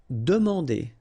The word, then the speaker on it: demander: Demander. So same thing here, remember, demander. And here you've got this nasal here, A-N, en. Demander.